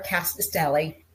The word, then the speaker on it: Rkatsiteli: um so we're here to talk about our cast Deli did I say it right you did you